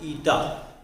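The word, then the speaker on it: eta: इसको नीटा बोलते हैं, तो नीटा, ठीक है, ईटा बोलो जैसा भी, मैं इसको क्या प्रोनाउंस करोगे उसके लिए लिख देता हूँ, ईटा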